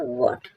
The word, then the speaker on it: bought: हॉट, hot means खरीदा, ओ sorry ये वॉट लिखा है, वॉट, वॉट, वॉट मीन्स खरीदा। BOUGHT, GHT है साइलेंट है।